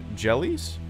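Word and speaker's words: Jelle's: who run a channel named jellies is how you pronounce it marble runs on YouTube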